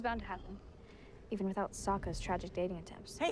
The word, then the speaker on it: Sokka: Did she run away when My the name's firebenders Sokka. came? Rhymes with Aka and Waka waka.